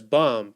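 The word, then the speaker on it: BOME: meme coins like B bom as some people are calling it is the book of memes but I think it's probably better pronounced as bomb because this is probably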